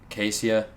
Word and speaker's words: Kaseya: I don't know if it was Kaseya, Casea. Kaseya.